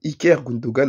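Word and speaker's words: İlkay Gündoğan: Mais mon gars, Iker Gundogan, ouais, ça se prononce comme ça.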